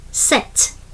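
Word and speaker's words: sept: Seven set.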